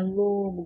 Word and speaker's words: lobo: Última sílaba, bo, e não é a sílaba tônica. Penúltima sílaba, lo, é a sílaba tônica. Antepenúltima, não tem. Nós só temos a última e a penúltima, tá? Lobo, lobo, lobo. Quando a gente pronuncia a palavra lobo, o lo saiu com mais intensidade, né?